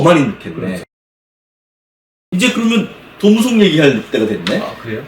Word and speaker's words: 도무송: 많이 늦겠네 이제 그러면 도무송 얘기할 때가 됐네 예 지금 벌써 얘기를 하셨는데 패키지 할 때는 진짜 도무송 얘기 진짜 많이에 도무송의 존재 뭔가 뭔가 봤더니 톰슨을 약간 일본식으로 발음한게 도성이 아닌가 싶기 제가 도성집